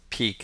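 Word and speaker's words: pique: the words in english it's pronounced peak as in peekaboo i see you but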